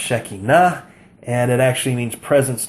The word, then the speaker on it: Shekinah: Most people mispronounce this word Shekinah, and most people have the misimpression that Shekinah means glory. It does not mean glory. It's properly pronounced Shekinah, and it actually means presence, not glory.